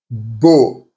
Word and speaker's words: beau: Now let's look at AU or EAU. The sound is always pronounced like an O. For example, beau, which is handsome.